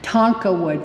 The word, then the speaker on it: Tonkawa: Susan says it right, Tonkawa tribe.